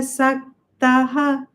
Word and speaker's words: सक्तः: In the second line, the half sa is not pronounced because by the Sandhi rule, we broke it and we made it Visarga with Saktaha.